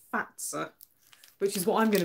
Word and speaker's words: Fazer: that is by but is the company name pronounced is it fat sir I keep recording it fazer but somebody corrected me the other day believe it might be fat sir which is what I'm